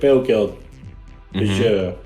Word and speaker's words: Peugeot: Peugeot. I don't know how to pronounce it.